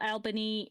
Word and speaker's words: Albany: one that made side it's also Albany not Alban yeah um Al it is not it's Albany um I gotta give